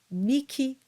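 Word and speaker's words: mihi: to this Rule and it's in two cases where an H is followed by an i and it's these two words that are pronounced Miki and nikil next we have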